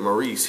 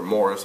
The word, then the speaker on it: Maurice: lets you know that Maurice here or Morris however you want to pronounce it I like to say Maurice uh he's still mostly